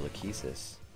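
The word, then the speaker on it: Lachesis: star but no you're lakesis which is apparently the correct way to pronounce it I'm gonna stop right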